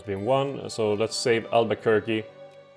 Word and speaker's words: Albuquerque: So let's save Albuquerque. It's actually just Albuquerque. They are offering Michigan and Missouri. I'm trying my best not to pronounce it Missouri.